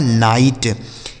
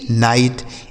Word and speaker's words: night: तो आई के साथ अगर GHT लिखा हो तो आई का उच्चारण हमें आई के रूप में ही करना है, फाइट जैसे लाइट, राइट, नाइट, माइट।